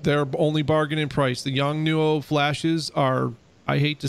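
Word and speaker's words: Yongnuo: and i don't know how to say this young nuo yeah yes that's it i have the same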